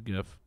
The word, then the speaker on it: GIF: I remember the first time I gift somebody, and when Facebook, they were like, how did you gift? And I was like, oh, I just figured this out. You just give him a gift.